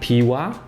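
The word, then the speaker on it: Piła: to and back from it's called P WA and you spell it P I L with little an a and I couldn't find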